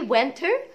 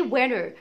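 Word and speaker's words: winter: طيب امال الشتاء اسمه، لا اما اقول عليه وينتر وينتر وبرده هعلق الار، لا اما هقول عليه وينر وينر وينر، لان التي لما بيبقى قبلها حرف الان يعني دايما التي لا تنطق في الامريكان اكسنت، والنطق ده مش هتلاقوه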